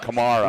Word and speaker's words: Kamara: It's not like the guy in the Saints. It's opposite of that. Yeah, Kamara.